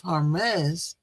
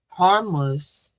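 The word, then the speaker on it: Hormuz: But in the midst of him targeting the straight of Hermes, harmless, H O R M U Z, how you pronounce that, y'all.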